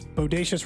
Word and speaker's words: bodacious: than you would like someone says Bodacious rhymes with so gracious that's not bad good